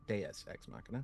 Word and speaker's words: Deus ex machina: So what was the inspiration for the almost literal Deus Ex Machina, by which Deus Ex Machina, let's pronounce that correctly, by which I mean having gods as the nuclear reactors of the world that came before?